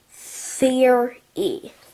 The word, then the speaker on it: theory: just a theory theory theory two syllables excuse me yeah excuse